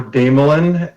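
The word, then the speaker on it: Desmoulin: My name is Damelin, and it's spelled D-E-S as in Sam, M-O-U-L-I-N.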